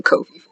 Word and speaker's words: Ko-fi: Because it sounds weird if you say Kofi, even though that does look like Kofi or Ko-Fi. I've heard it pronounced Ko-Fi also, but coffee makes sense.